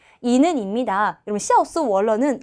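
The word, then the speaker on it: 笑死我了: 여러분 샤오스 월러는 야 진짜 웃겨 죽겠다는 소리거든. 근데 샤오 할 때 X, 스 할 때 S, 워 할 때 W, 러 할 때 L을 매 글자의 발음의 첫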